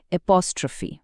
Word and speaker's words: apostrophe: উচ্চারণটা খেয়াল করবেন অ্যাপস্ট্রফি।